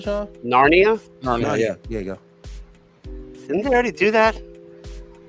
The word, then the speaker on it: Narnia: of 2 films based on the Chronicles of Nara. Y'all pronounce that right, Shaw? Narnia? Narnia, yeah.